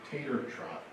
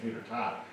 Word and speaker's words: Tater Trot: I saw so many of our families and students at the Schenectady City's Tater Trot. I did say it right for a while. I was calling it Tater Tot.